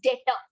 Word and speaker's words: debtor: Another word for trade receivable is debtor.